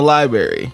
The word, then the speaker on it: library: a slip from the library from the school library. You know this is a black story cuz he said librarian not Pronounce the extra R that's in there.